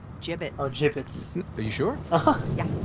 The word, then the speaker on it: Jibbitz: one alone Hey look if we had some gibbets leftover hobbits what it's pronounced jibbitz jibbitz are you sure uh-huh well no one